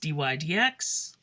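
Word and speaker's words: dy/dx: is all about slopes this one is generally pronounced d y d x or the derivative of y with respect to x it's a slightly different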